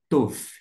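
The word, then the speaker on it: טוֹב: aqui ó o e Aqui nós temos o o som o Vet que vai ter um som de V como é que eu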